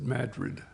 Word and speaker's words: Madrid: We're in Some people would say it was Madrid, but they pronounce it Madrid, Alabama.